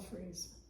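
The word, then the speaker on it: frieze: like that stuff above the columns, that's all Freeze. It's F-R-I-E-Z-E, A bit okay.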